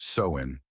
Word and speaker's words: Samhain: Over 2,000 years ago, in the misty hills of ancient Ireland, the Selts celebrated a festival called Samhine, pronounced sewing.